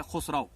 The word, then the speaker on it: خسرو: کچھ لوگ ان کو خسرو پڑھتے ہیں، کچھ خسرو پڑھتے ہیں، کچھ خسراو پڑھتے ہیں، لیکن ان کا جو صحیح تلفظ ان کے نام کا ہے وہ ہے خسرو.